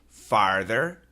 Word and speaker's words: farther: And he says, please help me distinguish these two words, the pronunciation. Farther and further.